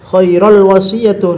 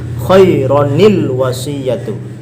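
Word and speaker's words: خَيْرًا الْوَصِيَّةُ: Maka ketika nyambung ke al-wasiyatu maka tidak bisa masuk ini khairal wasiyatu. Nanti kalau khairal maka tidak apa namanya? Di sini bukan tanwin nantinya. Khairal wasiyatu kalau bacanya seperti itu. Bagaimana cara menyeberangi khaira ke al-wasiyatu? Maka di sini ada hamzah wasal. Ketika baca harus disebabkan ada nun wiqayah. Artinya apa? Sebagai pengganti daripada tanwin khaironil wasiyatu.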